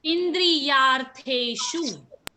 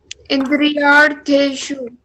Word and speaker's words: Indriyartheshu: So how do you pronounce the first word of the shloka? The Indriya Yata. Indriyartheshu. Indriyartheshu. Because S has the dot, so it becomes sh.